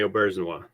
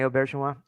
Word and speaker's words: Auberjonois: maybe what was it like working with Rene Auberjonois? Very good. Excellent pronunciation of his last name. Thank you. A lot of people get it wrong. What was it like working with Rene Auberjonois?